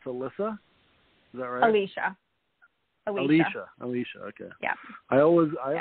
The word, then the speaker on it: Alicia: thanks for being on and how do i pronounce your name it's alyssa okay yeah i always i always uh twist